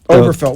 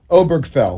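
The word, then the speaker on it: Obergefell: opinion on gay marriage, which, how do you pronounce that last name? Was it the Oberfeld? What, Obergfell. Right. Or I think it's Obergfell.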